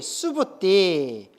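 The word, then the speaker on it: Subhūti: 장로 수보리가 산스크리터로 수보리를 뭐라고 발음한다고 했어요? 수부띠. 수부띠. 예. 수부따. 누구예요? 수부따. 수부띠. 알겠죠? 광우를 꽝우라고 하면 돼요, 안 돼요? 예. 수부티를 수다 하면 돼요, 안 돼요? 예. 수부띠. 알겠죠? 띠예요. 띠.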